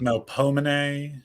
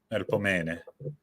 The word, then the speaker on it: Melpomene: In ancient Greek, it would be Melpomene. Melpomene. Something along those lines.